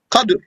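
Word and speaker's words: قَدْر: So the source of Qaddara is Taqdir, and the source of Aqdar is Qadr, with a sukoon on the dal. Then there's a third word, which is Qadar, with a fatha on the dal. So don't mix Qadr and Qadar.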